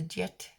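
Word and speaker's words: Djed: This pillar is called the Jet. I think it's pronounced D-J-E-D.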